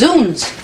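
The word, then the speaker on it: Zounds: What's zones mean? It's pronounced zuns.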